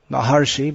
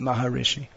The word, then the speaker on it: Maharishi: maharishi they called him actually the pronunciation is maharshi but they pronounce him maharishi he became more famous